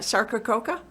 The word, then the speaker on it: Sarcococca: On one of your shows, you talked about the Christmas box Sarcococca. So, how do you say that, Sarcococca?